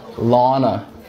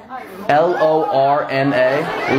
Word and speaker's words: Lorna: Lana. Lana. Lana? Lana. Did I not just fucking say that? Spell it. L-O-R-N-A.